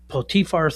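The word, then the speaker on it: Potiphar: He gets uh this whole Potifar thing goes on. That's how you would say his name in Hebrew.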